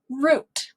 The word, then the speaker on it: route: sound ooh as well this word can be pronounced root however this same word r o u t e some people will pronounce this word out and that's okay too root route they mean the same thing they're spelled the same people just say it different depending on where they're from both are okay how crazy